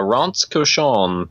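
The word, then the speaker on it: Rince Cochon: again what's uh uh Ron koson but it's spelled rinse Kion r i n c e space c o c h o n for those uh at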